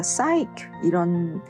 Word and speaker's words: psyche: 그리스어 psyche 이 단어에서 왔거든요. 그래서 psyche인데 P가 이제 묵음이죠. 그래서 우리 사이코 할 때 그 사이코 있잖아요.